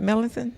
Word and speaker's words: Melicin: like melanin medicine. Okay, come on. There That's you the go. name of the book, Melicin. Ooh. Can you pronounce it? Melicin?